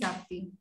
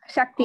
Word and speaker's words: Shakti: Amazing, Sakti. Am I pronouncing your name right? Yes, yes. Shakti.